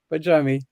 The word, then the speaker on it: Barjami: My name is from Untangled Healing, and with me today, Nadija Barjami. Nadia, hello. Hello, and hello, everybody, and well done on pronouncing my surname correctly.